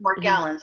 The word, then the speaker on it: Morgellons: Morgellons, that's how you say it.